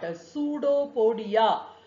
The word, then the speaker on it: pseudopodia: Pseudopodia. See, pseudopodia, that is false feet. P is silent.